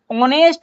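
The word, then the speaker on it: honest: एन ऑनेस्ट person an ऑनेस्ट person. तो यहां पे भी देख सकते हैं कि आप एच साइलेंट है।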